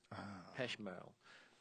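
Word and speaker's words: Pech Merle: P E C H M E R L E Peshmerrell.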